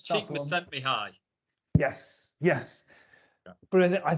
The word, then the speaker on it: Csikszentmihalyi: I think it's Csikszentmihalyi.